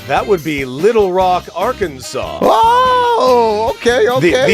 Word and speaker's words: Arkansas: Why, that would be Little Rock, Arkansas. Oh, okay. The S at the end is silent. I learned that recently.